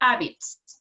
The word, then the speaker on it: habits: change some of their habits habits habits habits in this case the age is aspirated right good let's see herman